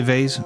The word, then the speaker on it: vase: we about it's about 50/50 half of us will say vay half half half of us will say vas but vase is how we we say it vas you have to think